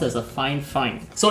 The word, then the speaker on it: Fifine: at the trash but this find find is pronounced as a fine fine so it's supposed to be one of the